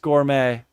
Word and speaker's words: gourmet: right now none zero okay zero Joe it's pronounced Gourmet whatever gouret gouret gouret Gourmet Gourmet I drive